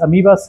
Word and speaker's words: ameba: de yaria y amebas amibas o amebas Cómo se dice amas amibas se escribe amebas ameba es en inglés